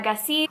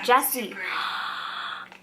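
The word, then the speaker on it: Gyasi: gassi wait a minute last time i talked about this author somebody corrected my pronunciation hi everyone oh here's heart is now jessie jessie y'all been letting me pronounce this wrong for like five years oh my god i'm embarrassed jessie jesse jesse transcend the kingdom by yah jessie this book sounds so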